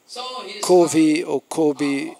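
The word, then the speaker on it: কবি: material poeta da matéria kob é a pronúncia bengals de Cave que é poeta e ele escreveu algo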